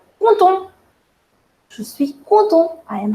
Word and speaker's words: content: And as I told you, the last consonant in French we generally do not pronounce. Yes? So that's the reason the first one is pronounced as je suis content.